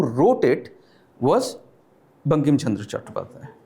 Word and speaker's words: Chattopadhyay: Or Bankim Chandra Chatterjee, right? Because English could not pronounce Bengali surnames, right? So I am a Bengali, so they could not pronounce Bengali surnames, so Chattopadhyay became Chatterjee, Bandyopadhyay becomes Banerjee, right?